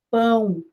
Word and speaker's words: pão: Então, as pessoas ficam fazendo maldade, malícia, quando alguém fala pau no lugar de pão. Então, precisa treinar bastante para não errar. Pão, pão, não é pau.